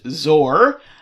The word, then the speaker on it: XOR: that's called exclusive or although it is often pronounced zor if you see it